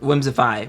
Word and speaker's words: whimsify: whimsic uh oh wait whims if whimsify whimsify that's how it's pronounced but it's spelled whimsify whimsify well well cool